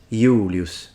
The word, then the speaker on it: Julius: first name Julius yes in Latin that Jay is pronounced like an I so he says Julius and it's eulus with the long u and and again us at the end but what about it's